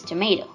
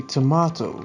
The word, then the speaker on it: tomato: our second word is tomato the stressed sound comes on the second syllable all right in british i'd say tomato and it has the